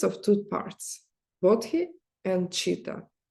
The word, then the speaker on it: chitta: It consists of two parts, bodhi and chitta, or citta also, because ancient pronunciation in Sanskrit, it was citta.